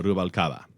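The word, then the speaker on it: Rubalcaba: Uh Rubalcava. Wow. Rubalava.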